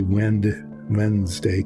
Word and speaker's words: Wednesday: But none of us, including me apparently, say Wednesday with the D in front of the N. We say Wednesday because that's so much easier to say, but that is not how it's spelled. Wednesday, so the D comes before the N, but we don't say it that way, you know.